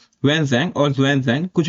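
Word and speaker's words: Hsuan Tsang: और ह्वेन सैंग भी कहते हैं इनको, टी साइलेंट होता है, ठीक है, इसलिए मैं सैंग बोल रहा हूँ, टी नहीं बोल रहा। ह्वेन सैंग और जुआन सैंग कुछ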